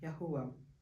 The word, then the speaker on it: YaHUaH: So it's YaHuH, pronounced as YaHUaH.